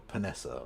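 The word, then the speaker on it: Panesar: Monty Panason or Panessa, I suppose, as it should be pronounced.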